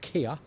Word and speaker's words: kea: I think it's pronounced kea or kia. And these are Kia? Kia, thank you.